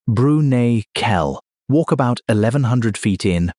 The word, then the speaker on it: Bruniquel: Go into a cave in southwestern France called Bruniquel, pronounced Broo-nee-kel.